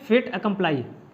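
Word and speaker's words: fait accompli: तो इसको प्रोनाउंस करते हैं फेट अकम्प्लाई, फेट अकम्प्लाई इसको प्रोनाउंस करते हैं।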